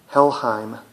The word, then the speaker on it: Helheim: helheim this one's called your moon the kang it's spelled j-o-r-m-u-n-d-g-a-n-d helheim h-e-l-h-e-i-m helheim is a norwegian black metal gem